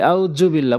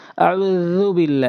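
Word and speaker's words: أعوذ بالله: আমরা যালও অধিকাংশ সময় ভুল করে থাকি। আমরা বলি আউযুবিল্লাহ, বলতে হবে আউযুবিল্লাহ, একদম হালকা করে।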